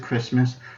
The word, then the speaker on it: Christmas: Christmas, C-H-R-I-S-T-M-A-S, and C-H-R-I-S-Miss, since how the T is silent in the original, and therefore they sound the exact same, but they're two different things.